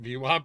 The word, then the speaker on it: VWAP: I've convinced my husband that VWAP is pronounced phonetically and not an acronym.